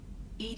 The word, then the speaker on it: EDI: airlock is ajar why are you named ed ed is the phonetic pronunciation of Ed I that is an acronym